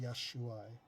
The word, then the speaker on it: Yeshua: We can talk about that, but it's pronounced Yeshua.